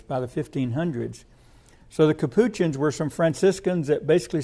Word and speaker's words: Capuchins: Then there was I believe it's pronounced the Capuchins, Capuchins, the Capuchins.